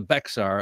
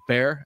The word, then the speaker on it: Bexar: a lot of us Yanks called it the Bexar until we were learned learned good on the pronunciation and so it's it's uh bear after Bear County um but so you you